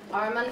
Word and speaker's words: Arman: Arman from Iran, so it rhymes.